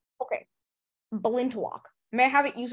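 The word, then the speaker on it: balintawak: fibers with a kerchief and apron to match Bolin to walk uh may I have any alternate pronunciations please lock is the only pronunciation okay belind to walk may I have it used in a sentence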